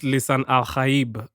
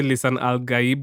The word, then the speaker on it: Lisan al-Gaib: Actually, it's supposed to be pronounced Lisan Al-Gaib. Huh? Okay, I don't want to. Let me not butcher it. But in the movie, they say Lisan Al-Gaib, which is like the American way of like.